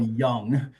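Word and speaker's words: Jung: I'm sure some of you guys know the name Carl Young, and it's spelled Ju.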